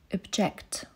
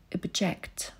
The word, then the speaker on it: object: Wymowa czasownika i rzeczownika dla kontrastu. Zachęcam do aktywnego słuchania i powtarzania, jeśli masz taką możliwość. Invite. Invite. Object. Object.